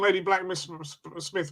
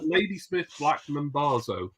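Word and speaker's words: Ladysmith Black Mambazo: African language span on I thought it wasn't lady black Mr Smith Smith it was it was hilarious pronouncing pronounce that again James from Brazil Brazil Ladysmith Blackman bazo thank you don't ask me how I know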